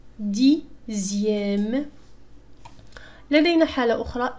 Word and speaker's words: dixième: X تنطق تماما مثل Z. هذه في خاصة في الأعداد تسمى les nombres ordinaux. Deuxième. لاحظوا هنا X تنطق كأنها Z. Deuxième. Sixième. Dixième.